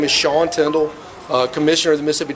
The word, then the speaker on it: Tindell: Sure, my name is Sean Tyndall, uh, commissioner of the Mississippi Department of Public Safety. It's spelled S E A N, uh, last name Tyndall, T I N D E L L.